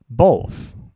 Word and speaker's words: both: 그러면 이걸 both th 발음은 이제 이렇게 생긴 발음입니다. 우리 어릴 때는 이걸 번데기라고 배웠어요. 이 소리죠. 그래서 발음 소리입니다. 성대에 울리면 안 돼요. 그래서 오 발음 어떻게 합니까? 아까 제가 어떻게 설명했죠? 오입니까? 오입니까? 오입니다. 그래서 both, both, both 이렇게 발음해야 옳은 발음이 되겠죠.